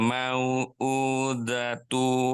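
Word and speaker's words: الْمَوْءُودَةُ: Datu, bukan dutu ya. Datu. Allah. Coba ulangi. Wa idzal ma'udutu. Mau u. Coba ulangi. Wa idzal mau'udatu su'ilat.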